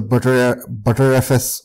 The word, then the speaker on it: btrfs: I'm using the ext4 file system, but you can also go with the butterfs, or how some people pronounce btrfs file system, or any other file system.